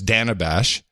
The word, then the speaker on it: Dana Bash: First, we learned how to pronounce her name. It's Dana Bash.